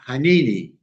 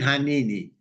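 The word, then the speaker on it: הנני: And today I'm going to talk about a Hebrew word, and I'm going to butcher it, but it's pronounced HINENI. See that on the screen? HINENI.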